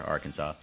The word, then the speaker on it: Arkansas: down in Little Rock Arkansas or Arkansas if you want to say it properly we met a few